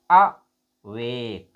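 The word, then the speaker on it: awake: वेग का मतलब जोर तक देर तक हम थोड़ा इसका प्रोनाउंस करते हैं। वेक इसको बोलेंगे अ वेक।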